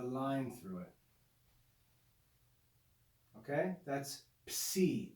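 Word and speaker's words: psi: through it okay that's c it's a double consonant transliterated with p s it makes the sound of the double consonants that's the greek c c and then the last letter number 24.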